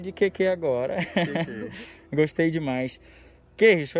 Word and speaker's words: Kerryson: Como é que pronuncia teu nome? Meu nome todo é Keirson.